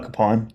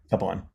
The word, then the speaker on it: Kapaun: helped enough men do so is Father Emil Kapaun. Am I pronouncing his last name correctly? Yeah, Emil Kapaun.